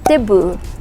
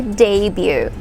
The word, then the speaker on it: debut: that is pronounced as debut debut not the boo okay we don't say the boo we say debut debut say it all